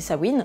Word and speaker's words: Samhain: Samhain, oui ça s'écrit Samhain, mais la prononciation d'origine c'est Samhain, est un film réalisé